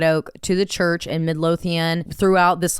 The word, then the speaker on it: Midlothian: Midlothian, yes, Texas, which was actually her and her family's home church.